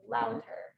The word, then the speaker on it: Lavtar: but it's Slovenian, so you don't pronounce it as a V, you pronounce it as a U, so it's Louter.